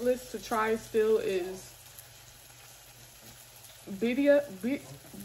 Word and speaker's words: Birria: What's on my bucket list to try still is Birria. Some people pronounce it Birria, but I think it's pronounced Birria.